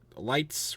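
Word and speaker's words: Letz: um and then uh lights wrecked and I don't remember his first name he wrecked weird weird way to pronounce the word Lights by the way l e TZ um um which then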